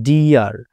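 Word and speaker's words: dear: উচ্চারণ ইয়া হবে কেমন যেমন ডি ই এ আর ডি আর এখানে খেয়াল করুন তো প্রথমে ই এ রয়েছে ডি এর পর ইয়ে রয়েছে তারপরে আর রয়েছে শেষের অক্ষর এইজন্য আমরা এই বাক্যে ব্যবহৃত ই এর উচ্চারণ করব ইয়া ঠিক আছে যেমন ডিয়ার তারপর কি রয়েছে ফিয়ার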